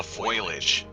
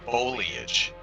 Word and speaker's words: foliage: somewhere and she's like, "Look at all the foilage." I'm like, "Foil? Foilage? What the do you mean foilage?" And she's like, "Foilage, you know, like the plants." And I mean, oh, you mean foliage? And she's like, "No, it's foilage." And I was like, "No, it's not spelled foliage or foil."